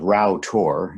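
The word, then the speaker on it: Rough Tor: It's called Row Tor. It's spelled R-O-U-G-A, but it's pronounced Row.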